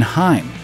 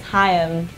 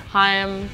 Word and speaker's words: Haim: Or even Haim, as in the life-saving Heimlich maneuver. Hey, how you pronounce our last name is Haim. Two syllables. There you go. Haim.